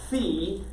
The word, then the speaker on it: phi: the greek letter v it's spelled p h i fee and it's actually their sound so if you were